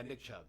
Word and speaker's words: Nick Chubb: Robinson um yeah so how do you say Nick job Nick jobs uh yeah Nick Chubb yeah Nick shop that's right yeah that's that's my